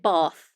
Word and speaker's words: Bath: But I should also, because I'm obviously English, we pronounce it Bath.